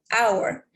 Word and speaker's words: hour: of the word viewer look like consonant but it actually pronounced like vowel for example hour that is with the